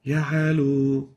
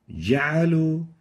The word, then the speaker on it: جعلوا: First mistake is weakly pronouncing the jim. Example, جعلوا. In this case, we can barely hear the jim, and the right way of pronouncing it is like this. وجعلوا جعلوا. So the jim should be awarded its strength characteristic. It should be clear enough.